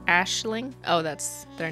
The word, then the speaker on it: Aisling: It's pronounced Ashling.